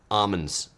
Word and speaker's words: almonds: in the Central Valley, they don't pronounce the L. They don't call them like almonds. They call them like almonds, almonds.